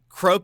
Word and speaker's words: croque: hanging out it's Croc well croak was correct well he was a Croc which I think is like a crocodile which is uh uh I think you are correct I I it's spelled c-r-o-q-u-e yeah yeah yeah like